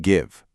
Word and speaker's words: give: Look at the word give. G I V E. Now listen really closely to the vowel sound. G I VV. It's a short I sound, right?